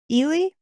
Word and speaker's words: Eli: getting a new neighbor her name is spelled Eli but I'm going to call her Elie because that's how they say it in the movie perfect I'm try to